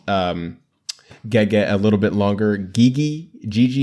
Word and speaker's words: Gege: I still don't know how to pronounce this guy's name. I need to listen to like an interview or something where they pronounce his name, but I think it's Gege.